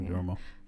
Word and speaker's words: Duomo: Yeah, the Duomo.